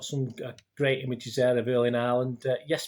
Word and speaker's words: Erling Haaland: He's got some great images there of Erling Haaland. Yes, pronounced correctly. Yes, we were being told by Scandinavians that it was Erling Haaland, it should be pronounced.